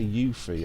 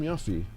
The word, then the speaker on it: Yuffie: But anyway, people say Yuthi. I hate when Yuthi is such an American pronunciation. Just. That'll do. I'm Yuffy.